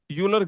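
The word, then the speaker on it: Euler: graph is a not uler graph Oiler graph uler graph okay basically there is no oiler circuit you can say what whatever is the correct pronunciation uler oiler. Okay. So let's call it oiler.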